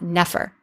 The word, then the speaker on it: nefer: other ones we've seen this represents n F R and in modern times we pronounce that Nefer so if you want